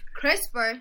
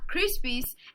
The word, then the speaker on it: CRISPR: the piece piece is it's pronounced CRISPR not crispies and I just read